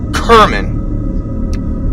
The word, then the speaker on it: Kerman: we all knew her her name was Gail Kerman pronounced Kerman she was an art